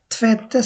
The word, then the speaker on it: tvätta: আর কি tvätta, তো এটা টি ভেত্তা হবে না, এটা হবে tvätta। আমাদের থ যেটা আর কি বাংলাতে আমরা থ বলি, যেমন থালা, ওই থটা tvätta sig tvätta sig tvätta